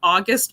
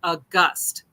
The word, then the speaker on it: August: So I've been calling him Danny August Mason. And he says, no, his name is Danny August Mason.